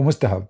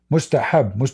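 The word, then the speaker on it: مستحب: Mustahab, not mustahab. You see, in those languages, they don't have certain letters. So when they try to speak in Arabic, their pronunciation will look so stupid.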